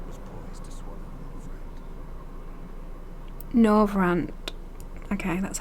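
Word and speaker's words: Norvrandt: Norvrand.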